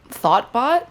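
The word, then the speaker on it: Thotbot: Thoughtbot? This was prior. This man is Thought, T-H-O-T? 2 T's. Close. But it's pronounced the same.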